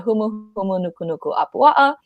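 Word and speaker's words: humuhumunukunukuāpuaʻa: Yes, it used to be a tongue twister while we were growing up, but it's the humu humu nuku nuku apua'a.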